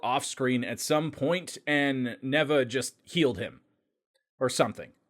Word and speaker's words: Neva: The elderly Namekian Neva, or Neba as some are pronouncing it, appeared to be the one who unlocked the form for Goku through magic.